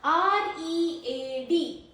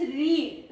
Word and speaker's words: read: First pronunciation is read, rhymes with seed.